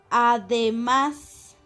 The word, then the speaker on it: además: Además, además, la palabra además es una palabra aguda porque se encuentra tildada en la última sílaba.